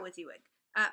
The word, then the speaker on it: WYSIWYG: here's the thing about with you would by the way WYSIWYG is the way you pronounce the acronym for what you see is what you get which is like it